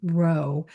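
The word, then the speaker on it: rho: uh as represented by the Greek letter row and it looks like this little lowercase uh P right here. All right. So that's actually uh pronounced row.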